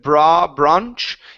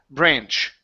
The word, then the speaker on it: branch: So, this is an aanch sound. Instead of bra branch, it's an a sound. So, branch branch.